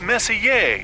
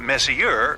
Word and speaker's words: Messier: Pronounced Messier, not Messier, as in, is your room messier than mine?